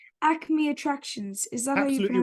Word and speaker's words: Acme Attractions: you ran a clothing store called am I pronouncing this right Acme attractions is that absolutely right y perfect and so